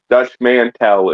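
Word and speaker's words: Dutch Mantell: Dutch Mantel is how you pronounce that properly.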